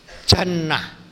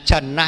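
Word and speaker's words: جَنّة: bacaannya lain maknanya jauh Jim Nun ta Jannah Nah kalau bacaannya Jannah itu artinya surga kalau junnah itu artinya perisai Sama tulisannya Tapi bacanya junnah asiyamu junnatun minanar puasa itu junah perisai dari api neraka kalau jinnah itu jin jinnah Nah itu jadi ayat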